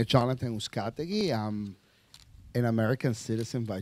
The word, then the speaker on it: Uzcategui: So if you have a problem pronouncing the last name, it sounds like, who's got the key? Ah. So if you say, who's got the key, it sounds like Uzcategui.